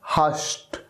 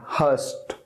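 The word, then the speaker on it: hushed: एस एच ई डी ध्यान रहे जब इसका उच्चारण करते हैं ना जब इसको प्रोनाउंस करते हैं तो ईडी का जो साउंड है ना वो टी का साउंड आता है ट ट ट इस तरह का साउंड हस्ट नेक्स्ट वेरी डिफिकल्ट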